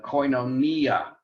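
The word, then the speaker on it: κοινωνία: is on the sia and words that end in the last vowel the second to the last bell is an iota generally have the accent on the iota so like uh koinonia not koinonia is is often pronounced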